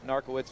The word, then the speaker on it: Narkiewicz: versus just dark woods you better pronounce that one uncle wits that's looking the press guide there maybe they have pronunciation ARCA wits at 149 been shirt from Iowa narka wits from Penn State shot